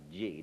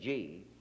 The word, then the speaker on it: Chi: chap called Dr spell Chi is pronounced G Dr G who happened to hold